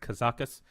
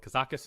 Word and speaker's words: Kazakus: my opinion, has been released out of Gadgetzan, Kazakus. That's how it's pronounced, Kazakus. I watched it. Ben Brode had said it out as well. So Kazakus is the way you say it.